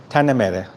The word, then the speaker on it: Tanah Merah: Tanah Merah. Tanah Merah. Do I say that right? Tanah Merah?